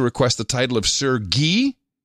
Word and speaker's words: Guy: the title of Sir Guy, which is pronounced as in the Indian clarified butter French Guy, G-U-Y, Sir Guy, but it'll be G-E-E.